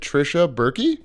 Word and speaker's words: Tricia Buerke: And we are here with, and I did not ask you how to pronounce it, Tricia Buerke? Yeah. Hell yeah. Hell yeah. Oh, I would have thought it was just Burke.